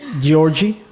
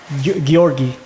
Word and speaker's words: Georgi: for sure man for sure I need to pronounce your name right Georgie yeah Georgie is fine Georgie no no I want to pronounce it the actual way how Gori gorgi yeah exactly okay so instead of G it's